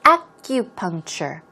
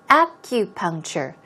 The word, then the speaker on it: acupuncture: word as you see the stress goes on the first syllable its acupuncture acupuncture but the K or